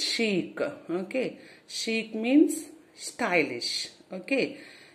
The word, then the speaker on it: chic: How you have to pronounce? Chic.